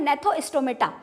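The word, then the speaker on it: Gnathostomata: एक होता है एग्नेथा और दूसरा होता है नेथोस्टोमेटा जिसमें जी साइलेंट है।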